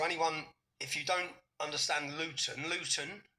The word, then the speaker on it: Luton: And so anyone if you don't understand Luton Luton see I pronounced my tea there. We don't pronounce our T's.